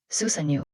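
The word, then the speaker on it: 須佐之男: Susanoo。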